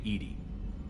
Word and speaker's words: EDI: why are you named Edie Ed is the phonetic pronunciation of e di that is an acronym for enhanced defense intelligence how are you getting